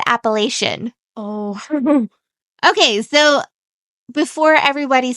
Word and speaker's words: Appalachian: I've heard other people pronounce it different, but we're going to be saying Appalachian.